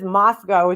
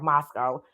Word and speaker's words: Moscow: I wouldn't say Spokane just like with this Moscow thing right I even heard Duty Ron last night he's like Moscow Moscow because we're used to saying Moscow you know but apparently they